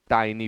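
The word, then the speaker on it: tiny: छोटा D bright चमकदार इसे बहुत लोग टीनी पढ़ते हैं आप टीनी नहीं पढ़ेंगे आप इसे टाइनी पढ़ेंगे टाइनी टीनी नहीं पढ़ना है गलत उच्चारण होगा अगर आप इसे टीनी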